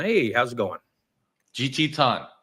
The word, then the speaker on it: Tan: Yeah, so and because of the dialect, it's actually the same as, the last name, but we all right. we pronounce it as Tan.